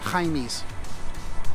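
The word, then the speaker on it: Hymie's: at Jaime's deli yes hymies you have to say it like that get to do the house sound Jaime's deli Jaime's has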